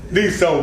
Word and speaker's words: Dsto: Dsto.